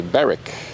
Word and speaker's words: Berwick: Berwick has a silent W, so it's Berwick.